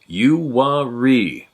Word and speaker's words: Uwharrie: My experiences take place in North Carolina, USA, not too far from pronounced Uwharrie, the Uwharrie National Forest.